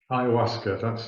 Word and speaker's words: ayahuasca: But particularly people probably ayahuasca, that's the correct pronunciation of it.